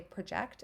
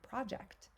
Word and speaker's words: project: are going to say project and some kids are going to say project um it all depends on the emphasis again a project is a thing right a noun um project is a verb so when we have